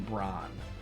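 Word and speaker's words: Brahne: I yeah and I use Queen brawn I pronounced Queen Braun oh back attack Goblin punch Goblin Goblin punch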